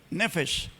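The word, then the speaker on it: נפש: Miren en la parte superior, así se escribe en hebreo, nefesh, así se pronuncia.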